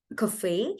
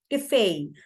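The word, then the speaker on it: café: So this is a uniquely pronounced word, cafe. No word in English, not many words in English actually end with eh, but they end with a. Cafe.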